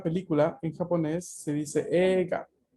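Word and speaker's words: 映画: Es esta palabra que tiene una doble E fonéticamente hablando. Entonces llegan a escuchar ega. Yo no digo eiga. Y esto es una situación de fonética. Ei se pronuncia E larga.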